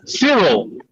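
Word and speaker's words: Syril: like something like that but it's yeah it's Cyril I'm saying the whole time right we knew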